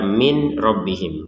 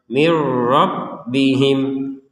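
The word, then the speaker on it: مِن رَّبِّهِمْ: Min rbihim sekali lagi jangan dibaca Min robbihim karena kalau dibaca seperti itu berarti Nun sukunnya dibaca dengan jelas sekarang dari yang jelas kita masukkan ke ro sehingga terbacanya mirro mirro dan yang perlu diperhatikan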